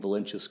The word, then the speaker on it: Valences: Now, am I pronouncing Valences correct, Chuck?